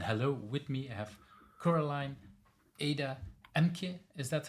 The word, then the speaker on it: Coraline Ada Ehmke: I have Coraline Ada Ehmke. Is that how I should pronounce the name?